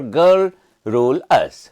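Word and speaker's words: garrulous: Next word is gulus. Geralus means talkative. So talkative that means initial pronunciation remember girl rule us.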